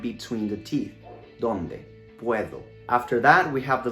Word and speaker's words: puedo: not a native speaker the d in english has a very strong and explosive sound i say do don't doubt in spanish it's more like a th in the word there for example in the word puedo we don't say puerto but puedo think about it as p-u-e-t-h-o puedo there are other words where